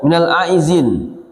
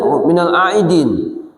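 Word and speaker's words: من العائدين: Aidin. Orang juga sering membacanya minal aizin ya kan. Kalau kita lihat minal aidin kembali kepada fitrah kesucian misalnya diperhatikan misal kembali kepada agama kembali kepada ciptaan awal laillah.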